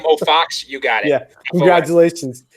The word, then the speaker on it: Fuchs: My family decided, hey, it's Fuchs, but we're going to pronounce it like Fox and just fuck everybody up.